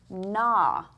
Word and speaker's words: gnaw: How about the word gnaw? - Gnaw - Okay. How many sounds? - (sounding out phonetically) N-AW. - Ah, ah, two.